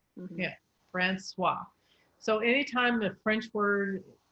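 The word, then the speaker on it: François: is the first thing anytime you see an ois it becomes a w okay so that's francois francois yeah francois so anytime the french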